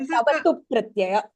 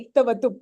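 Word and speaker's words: क्तवतु प्रत्यय: It is called tavatu pratyaya. Tavatu pratyaya. So the ik is silent, is it?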